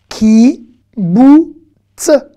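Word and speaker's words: קיבוץ: Ki, bou, ts. Ki, bou, ts. Ben oui, kibbutz, ça s'écrit avec un kouf.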